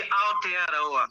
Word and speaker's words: Aotearoa: is so called, and I hope I'm pronouncing this right, Super Rugby Aotearoa. Is that right? Almost G, Aotearoa.